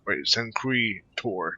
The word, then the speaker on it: Sancre Tor: Oh, Sancre Tor. That's how you pronounce it.